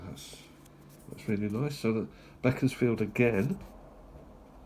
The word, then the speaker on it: Beaconsfield: So, Beckensfield again sent from Beckensfield or Beaconsfield if you know the correct pronunciation.